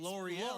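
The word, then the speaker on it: L'Oréal: missing a letter for me Yeah, to pronounce it it's L'Oreal.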